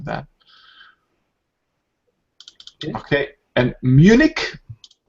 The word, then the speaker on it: Munich: Okay, and Munich, in English we pronounce it like k at the end. In German it would be München, but in English we say Munich.